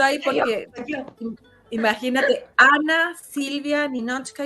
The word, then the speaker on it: Ninotchka: Sin embargo, me gusta mucho porque, bueno, yo uso Ninochka, pero es una complicación, ¿verdad? Porque además se escribe con la T-C-H-K-A, pero Ana, que es